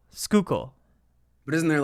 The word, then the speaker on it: Schuylkill: fish from the Schuylkill how do you say it's well we say Schuylkill Schuylkill but isn't there like